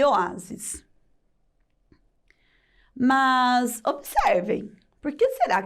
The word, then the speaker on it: oásis: E oásis também é paroxítona, porque o-a-sis, ela tem três sílabas e a penúltima, que é a mais forte, que é a letra a.